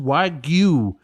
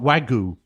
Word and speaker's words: Wagyu: That's w a g yu and is pronounced wagu not wagu.